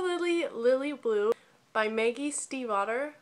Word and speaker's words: Stiefvater: Lily Blue by Maggie Stiefvater, which I actually looked it up. That is how you pronounce her last name. I was surprised. Stiefvater. Stiefvater. Sorry, I just butchered your name.